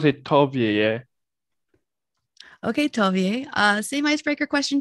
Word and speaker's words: Tovieye: to have you first clarify exactly how to pronounce your name tovia is that i i think you've got it